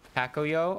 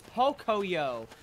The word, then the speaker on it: Pocoyo: Pacoyo or Pocoyo? Pocoyo, where the fuck did the A come from? It's Pocoyo. You said Pacoyo as if he's got an A, P-A-C. It's P-O-C.